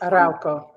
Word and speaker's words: Arauco: Am I pronouncing that right? Tell me. Fix it. Arauco.